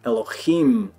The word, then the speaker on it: Elohim: you will know that masculine plural words end in im, Elohim. Eloh is God. Elohim is gods. We've been saying it wrong the whole time.